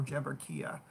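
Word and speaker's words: Jeberechiah: jeber jeber gibberichaya or jabber kia okay the ch can be pronounced the k sound there um but again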